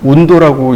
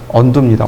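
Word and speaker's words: undo: 예전에 저 언두를 운도라고 읽는 분이 계셨어요. 그대로 영어 그대로 읽는 거죠. 처음에는 운도요? 그게 뭐죠? 그랬어요. 스펠링을 써서 알게 된 거예요. 운도라고 읽는 분도 계셨어요. 언두입니다. 언두. 자, 그래서 두 번째 점 클릭.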